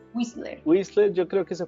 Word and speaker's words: Whistler: Cuéntame un poco de Whistler, ¿cómo se pronuncia? Whistler. Whistler.